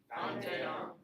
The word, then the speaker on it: vingt et un: You pronounce the T. Oui, because you have a T and an E side by side, and so it makes it like a liaison.